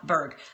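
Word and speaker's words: Burg: right so Bob b u r g Bob berg the go-giver so the concept of that book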